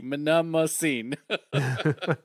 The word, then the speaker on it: Mnemosyne: It's not So, it's not monomonom. it is not, no. Despite its spelling, it is. It looks like it's spelled that way. Mnemosyn. Mnemosyne. Yeah.